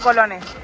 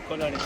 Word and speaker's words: colones: - Colonists or colonists? - Colones, I said it wrong, during my entire stay in Costa Rica I said colonists instead of colones.